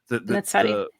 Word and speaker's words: Netzarim: I keep mispronouncing it, but it's the Netzarim.